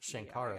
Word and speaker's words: Sankara: Uh they are the an or the Sankara stones or pronounced Shankara stones.